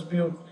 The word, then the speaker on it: but: B-U-T, but it is pronounced as bute.